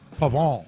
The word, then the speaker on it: Pavon: Matthew Pavon. Pavon. Say it again. Pavon. How do you pronounce the first name?